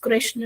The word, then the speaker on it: Krishna: you and I am using Ram as Ram only not Rama Krishna is just Krishna not Krishna because it's not Rama Rama is western you know European countries uh people are not able to pronounce announcing therefore they are calling it but if we Indians if